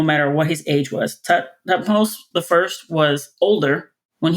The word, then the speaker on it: Thutmose: How do you pronounce it? Thutmose? I say Thutmose.